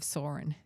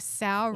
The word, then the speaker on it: Sauron: Why it sounds so sour when you say it? The Eye of Sauron. Well, I don't know how Tolkien said it, but that's how they say it in the movies.